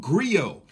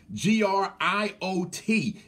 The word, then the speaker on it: griot: thousands of years ago there's a word called grill gr IOT grill which is mispronounced griot but grill where we're storytellers